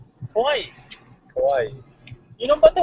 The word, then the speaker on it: Kauai: Kauai, yes. Kauai? Yes. Kauai? Yeah, the Polynesian language, you pronounce every letter. You pronounce every vowel.